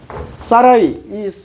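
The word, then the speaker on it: Sarai: 사라이.이 사라 사레라는 이름이 히브리어로 발음하면 사라이입니다.이 사라이가 사라이가 여자니까 사라이고 남자는 사르곤이 돼요.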